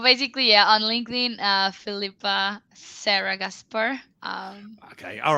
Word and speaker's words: Gaspar: Gaspar. I'm just saying it. It's pronounced with an H in there just to confuse English people, English-speaking people, even more.